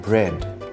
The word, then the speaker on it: bread: Z in the spelling but not in the pronunciation. A as in bread.